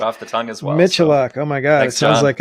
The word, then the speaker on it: Michaluk: Today on the show, we have Crackberry Kevin Michaluk. He doesn't like to use that pronunciation. Michaluk, right? Michaluk. Raised Canadian, we say Michaluk.